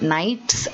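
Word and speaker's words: knights: read the line about nights and gnomes i told them that in the nights the k is silent and in the norms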